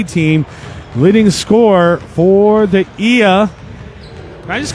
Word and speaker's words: Gila: Gia is pronounced Ia. Oh, my goodness. I used to call it GILA.